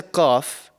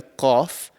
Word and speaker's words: Qaf: So the letter Qaf is actually pronounced from the farthest part of your mouth. So right at the back of your mouth, just before the throat.